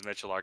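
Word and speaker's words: Miculek: Well, he pronounces his last name as Michelark. It doesn't look like it's spelled Michelark, but that's how he pronounces his own I just last know thank him you.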